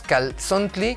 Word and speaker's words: calzontli: Nada más para apostillar tenemos, por ejemplo, la expresión calzón, que viene de la lengua mexicana y realmente la pronunciamos calzontli, que viene de Cali, recinto o estructura, tzontli, cabello.